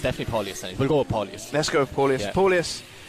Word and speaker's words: Paulius: Mike, can you pronounce this one? It's Paulius Kerneskis, I think. It's definitely Paulius.